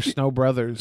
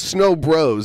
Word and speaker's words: Snow Bros: Did you say the game was called Snow Bros or Snow Brothers? Snow Bros. It's spelled S-N-O-B-R-O-S.